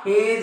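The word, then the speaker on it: hedge: उच्चार होत नाही याठिकाणी हा हेडगे नाही हा हेज आहे हे हा वेळ नाही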